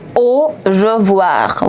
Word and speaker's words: au revoir: AU is to be pronounced as O. O. Very basic English pronunciation. O. O. Je. I told you that the pronunciation of E is E. E. Together with RE, it's going to be je. Je. We have already done the pronunciation of OI, which is OUA in the word bonsoir. Here also you have the same combination of letters, OI, which is going to create the sound of voir.